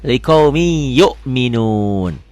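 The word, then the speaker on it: لِقَوْمٍ يُؤْمِنُونَ: Setiap tanwin ketemu huruf bertasdid, tanwinnya baca satu. Liqaumin jadi liqaumi kan? Liqaumi masukin ke ya, liqaumi.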